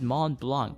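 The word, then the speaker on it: Mont Blanc: in the alpes and that Peak is called Mom Blanc yes the white mountain m o n t b l a n c but we pronounce it mon Blanc why doesn't the C have to pronounce it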